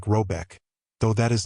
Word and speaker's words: Rabec: The manor house or herard in question is to be called rabb pronounced something like robec though that is not its name.